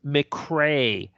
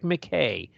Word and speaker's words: McCray: wrote up the ballot it's McCrae not McKay shame on you no